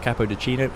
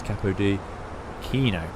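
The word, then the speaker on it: Capodichino: It's not Capodicino, it's Capodicino. CH in Italian is pronounced with the K sound.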